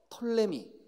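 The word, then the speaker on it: Ptolemy: 사람은 반드시 기억해야 됩니다 하나는 어 톨레미 그 앞에 발음이 거의 안 돼요 털로 니 털러 미 이렇게 발음이 되요 그래서 우리 한국 사람들이 그 경상도 씩 영어 하잖아요 그래서 우리 이렇게 발음합니다 프톨레미 맥키 하락의 2 터널링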